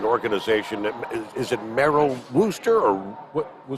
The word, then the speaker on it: Worcester: For those who may not be familiar with Wreaths Across America, it's an organization that, is it Merrill Wooster or? Worcester.